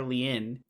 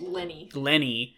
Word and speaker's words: Lenny Clark: I wanted to call her Leanne, but it's Lenny. Lenny Clark, and her...